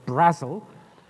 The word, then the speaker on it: Brazil: man called David Brazil it spelt the same as the country but it's pronounced Brazil David Brazil in 1995 said and